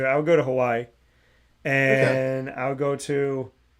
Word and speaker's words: Hawaii: I would go to Hawaii, and I would go to, which I realized is actually pronounced Hawaii. So you got to say it a little different, but I would definitely go there.